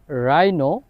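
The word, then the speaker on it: rhino: এরপর আরেকটা যে রুলস আর এর পর যদি এইচ থাকে ওই ক্ষেত্রে এইচ এর উচ্চারণ হয় না আর এর উচ্চারণ হয় যেমন এটার উদাহরণ হচ্ছে রাইম রাইনো রম্বিক আর এর পর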